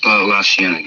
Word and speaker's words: La Cienega: La Cienega, yeah.